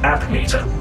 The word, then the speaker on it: APPM-3TR: how lucky for me I am abdm-3tr but humans without fail pronounce it app meter app meter okay I'm Kate what